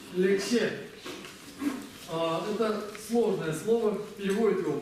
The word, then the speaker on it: ལེགས་བཤད: Как читается первое слово? Лек. Здесь у нас К, помним. Дальше? Ще. Лексе.